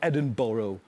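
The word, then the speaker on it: Edinburgh: what you did yesterday in I don't know Edinboro yeah well pronounced yeah very well yeah of course yeah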